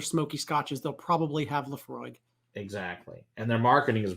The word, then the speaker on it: Laphroaig: hell yeah i mean i've heard so many different pronunciations of those are the frog the floor left frog yeah wrong i mean it is gaelic and it's a ridiculous word laphroaig it's like you can't